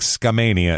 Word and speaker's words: Skamania: going to Scania Washington I think Skamania is how they say it locally but it's scam Mania